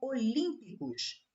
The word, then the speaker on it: olímpicos: Olímpicos. Olímpicos. Ó, aqui é a última, aqui é a penúltima e aqui é a antepenúltima.